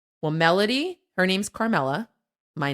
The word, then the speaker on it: Melody: It's spelled melody, but we say melody like a rapper. Like Melody. Melody, what it do?